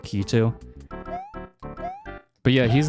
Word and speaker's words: Lakitu: who grow up Mario, they pronounce it like Lakitu. I don't really care for the pronunciation that much, but in Japanese it's pronounced like Kitu.